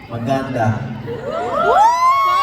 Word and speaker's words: maganda: Maganda!